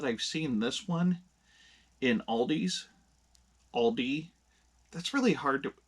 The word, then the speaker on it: Aldi: But yeah, it's Aldi. So, anywho, I do digress. I I don't know where you would buy this. I kind of feel like maybe Aldi's got a contract with